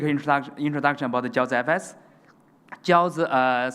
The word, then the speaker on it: Jiaozi: Jiaozi, simply pronounced with dumpling Jiaozi in China, but Jiaozi is a paper money like this.